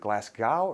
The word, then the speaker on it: Glasgow: Is it Glasgow or Glasgow? Go. Glasgow. Yeah. As in Pascoe.